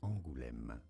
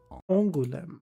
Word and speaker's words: Angoulême: It is pronounced as Angoulême. Angoulême.